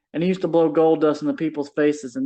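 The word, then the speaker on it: Goldust: Yep, it rhymes with gust. Golden Dust? There you go, gold dust.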